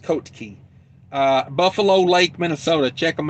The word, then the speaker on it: Kotke: Kotke is how it's spelled. Kotke, Colt Key. I think that's how it's pronounced. Colt Key.